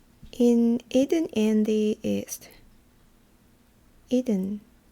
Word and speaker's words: Eden: Eden. 그 에덴 동산을 영어로는 이든이라고 해요. 이든. 발음이 좀 틀리죠.